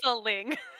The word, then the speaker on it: wrestling: I love that how you pronounce wrestling is with an extra syllable too. So that's wrestling.